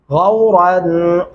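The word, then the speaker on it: غَوْرًا: غورا، غو اور آگے را کو موٹا اور پر کر کے پڑھیں گے.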